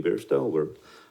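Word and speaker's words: Beairsto: Hi, my name is Bairstow. Work with Window World, New Hampshire. Bairstow. Okay. Can you spell that?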